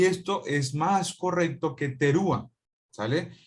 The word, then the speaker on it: terúa: Pero la palabra terúa no es lo más correcto para pronunciar. Acuérdense que el hebreo es un idioma que es gutural, por lo tanto, la forma más correcta para poder pronunciar esto sería como terúa o trua, ¿de acuerdo?